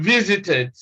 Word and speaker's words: visited: e d in mobbed in the third rule eid replaces e.d in visited all right so this